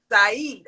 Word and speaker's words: Saeed: um said Chestnut said you haven't pronounced my name right bro what's what's his name Saeed I like that better thank you Saeed